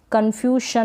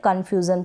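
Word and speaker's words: confusion: ये है कन्फ्यूज़न, क्या है कन्फ्यूज़न, कन्फ्यूशन ना पढ़े कन्फ्यूज़न।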